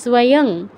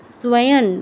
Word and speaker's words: স্বয়ং: নিচের এই লেখাটা দেখে এটা স্বয়ং অনুস্বার আছে স্বয়ং হ্যাঁ অনুস্বার নয় চ ছ জ ঝ ইয় হসন্ত উচ্চারণ হবে স্বয়ং স্বয়ং ন এর মতো মানে ন এর কাছাকাছি ঠিক আছে আর ভবানের